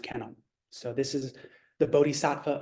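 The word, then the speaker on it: Kannon: into China became Guan and in Japan it's pronounced Canon so this is the bodhisatwa of compassion the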